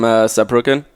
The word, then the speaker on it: Saarbrücken: How do you pronounce it? So I'm from Saarbrücken. Okay. So Saarbrücken.